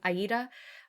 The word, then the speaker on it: Aida: Or Ada. It doesn't matter how you say it. Sometimes I say Ada. I'm feeling fancy today, so I'm saying Aida. It actually is Aida.